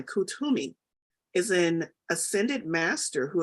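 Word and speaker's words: Koot Hoomi: know let's see ah I did mispronounce it pronounce kutumi k-o-ot hyphen h-u-m-i kutumi is in ascended master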